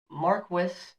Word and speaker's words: Marquis: de la Poer Beresford, Marquis of Waterford. Hopefully I said that correctly. Now, another side... Marquis. Marquis? Marquis? Not Marquis. Marquis? I think the S is silent.